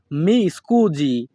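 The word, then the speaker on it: mi scusi: মাফ করবেন এই বাক্যের ইতালিয়ান ভাষা হবে মি স্কুজি এখানে এস আই এর উচ্চারণ হবে জি ইতালিয়ান ভাষা মি স্কুজি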